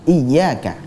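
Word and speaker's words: إياك: Sedangkan kasroh itu sempurna apabila diucapkan dengan i. Nah, kita ucapkan bersama-sama dengan pelafatan yang benar. Iyyaka. Iyyaka. Iyyaka. Iyyaka. Baik, jadi i-nya, kasrohnya sempurna, i.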